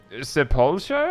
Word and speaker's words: Sepulture: I remember I believe it was on the media tour stuff, that it actually said sepulture, like ER, not RE.